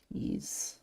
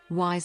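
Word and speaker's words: Ys: It's ease, right? It's pronounced weird. That's right. And hopefully, like, one of these dukes is just going to declare war for this on their own. Wise is like ease.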